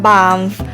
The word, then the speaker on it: Banff: อ ก เ สี ย ง ว่ า บ า ฟ บ า ง ค น อ่ า น อ อ ก เ สี ย ง ว่ า บ า ม เ อ า ที่ เ ร า ส